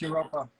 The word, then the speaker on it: Europa: What are your opinions on the prototype sets for Classic Castle and the canceled Europa theme? I believe is how you say that. Basically, a play on Europe. Yeah, it's Europa.